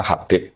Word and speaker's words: Habib: Itu di harakatnya kitab itu ada yang nulis khubb. L yang benar. Oh, nggih. Yang benar itu bacanya Habib. Habib itu sulami itu ikut